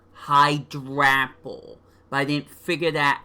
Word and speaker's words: Hydrapple: It's pronounced Hydrapple. Hydrapple.